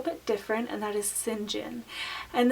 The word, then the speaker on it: St. John: different and that is sin jinn and this is a variation of the name st. John st. John can be pronounced Sinjin and this is the phonetic spelling and I came across